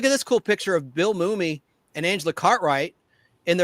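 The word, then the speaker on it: Mumy: And it's Bill Mum, not Mummy. A lot of people call him Mummy. And that's okay. It's Mumie. It mu m It's one M, not two. Mummy.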